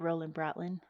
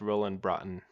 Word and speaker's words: Broughton: and founded a firm is it Roland Brin no I think it's pronounced Roland Bron oh Roland Bron no but these these